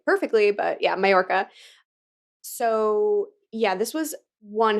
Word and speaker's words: Mallorca: awesome ride on a super yacht in, you pronounce it Yes. Majorca? I say Mallorca. Majorca. Okay. I'm not Spanish, so I'm sure I'm not saying it like perfectly, but yeah, Mallorca.